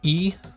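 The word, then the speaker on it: い: So we have a, we have e, even it's the letter, in Romanji it's spelled I, but it's pronounced like the letter E.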